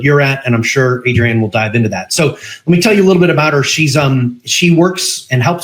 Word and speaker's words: Adrienne: Hey everybody, it is with another episode of the Practice Profit System, and I am here with the lovely Adrienne Lloyd. Did I pronounce your first name correctly?